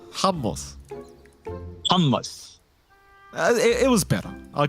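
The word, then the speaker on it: hummus: I can get it don't say it like that Jonathan I just said it correctly you could surely imitate what I said could you could you could you repeat it for my uneducated self humos humos it was better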